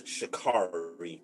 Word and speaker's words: Sha'Carri: I pronounce it as Sha'Carri Richardson.